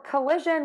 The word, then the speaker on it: collision: collision is going to have three beats or three syllables and coalition is going to have four beats or four syllables so let's break these down for collision we're going to start